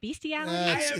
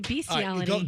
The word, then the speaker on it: bestiality: Isn't it called beastiality? It's It's both. Yeah. I've never heard anybody call it bestiality. Unless they think it's like the best thing ever. I prefer to say beastiality.